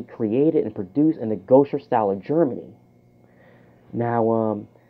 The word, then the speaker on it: Gose: Now, as I look at my notes right now, it's actually pronounced Gose.